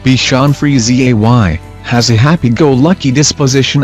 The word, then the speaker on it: Bichon Frise: cherished companions bacon fries the beacon fries pronounced Bichon Frise why has a happy-go-lucky